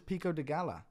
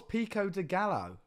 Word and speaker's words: pico de gallo: choice of filling what's pico de gallo deallo where it's two L's well yeah that's like that's how you pronounce it like in Spanish do you think if